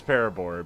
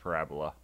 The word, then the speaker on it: Parabola: beam you or parab Beam not Parabola she says parab beam I don't care how it's it's pronounced par Parabola and this is why I even I don't even take voice acting seriously when it comes to pronunciations cuz that's clearly pronounced Parabola not paraba probably has some Engish